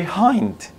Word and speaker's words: hind: nowadays yeah and honest but today we say hind hein it's it means at the area gazelle so basically probably in the past it could the edge could have been silent like it's silent in honor in our you know an honest